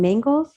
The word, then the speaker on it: Mangels: interview and may emmy how do you say your last name mangles uh-huh m with angels yeah oh rhymes with angels oh my gosh and